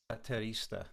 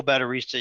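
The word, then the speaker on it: Baterista: Terista. Correct. It's I think I pronounced it wrong. Oh, Batterista.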